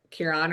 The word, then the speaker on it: Kieran: I'm going to butcher his name, but Kieran or Kieran, I can't remember. I think people pronounce it both ways.